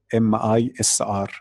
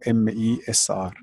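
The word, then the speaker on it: مصر: and by the way in Arabic language we have another name called mr. mi SR or mes R so this is one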